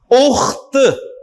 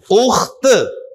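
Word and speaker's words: أخت: आपको बता दिया कि लंबी ता जब लफ्ज के आखिर में आएगी तो ता की आवाज आएगी, उख्त, उख्त, बिंत।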